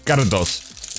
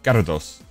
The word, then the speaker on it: Gyarados: It's Gyarados. You've got to pronounce it that way. You got to roll the tongue. Gyarados.